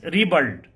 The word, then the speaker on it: ribald: Okay, next one is ribald. Ribald. The spelling is R-I-B-A-L-D. Ribald. Pronunciation is ribald, not ribald. Ribald.